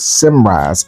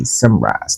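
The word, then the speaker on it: Symrise: The company was Simrise. S Y M R I S E. Simrise.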